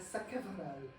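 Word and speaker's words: Sacheverell: Um there were siblings Edith Osbbert and Sakal, that's how it's pronounced.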